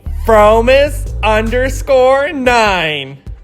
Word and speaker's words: fromis_9: Let's say it together. Ready? Fromis_9. Duh. Wait, you mean to tell me the underscore is silent?